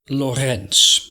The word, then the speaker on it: Lorentz: gp hit it anton lorenz that's how we dutch pronounce his name and he's dutch hendrik anton lorenz and maybe you've seen